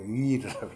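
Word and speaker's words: עיר: 이게 Y식으로 발음해야 돼요. 그러니까 위르라고 위르.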